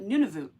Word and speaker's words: Nunavut: there she calls it Nuno Nuno nun I hear we hear different pronunciations for it depending on where you are in Canada or who's actually trying to be accurate I'm going to call